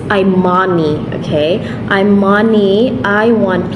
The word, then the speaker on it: Imani: switch this off first okay so the Imani I'm Mommy so that's how you pronounce it it's Imani okay I'm money I